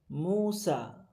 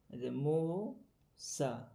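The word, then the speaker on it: موسى: নিচে এই দুই নুক্তা থাকে তখন হচ্ছে কেমন উচ্চারণ হয় যেমন মুসা মুসা আলাই সালামের নাম শুনেছি আমরা মুসা এখন মুসা বলার সময় ইয়া আছে কিন্তু আছে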